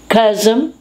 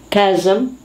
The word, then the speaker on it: chasm: so let's just go through it charisma charisma chasm chasm chiropractor chiropractor chrysler chrysler chameleon chameleon chaos chaos